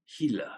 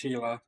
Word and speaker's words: Gila: I happen to know this one because Atenboroough pronounces it Gila. Yeah. And I I I know it's Hila, but I've said it as Gila since